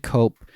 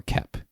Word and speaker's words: Koepp: Just because there's so many things that David Cope gets out of James Cameron's Spider-Man and he actually puts into Sam Raimi's movie.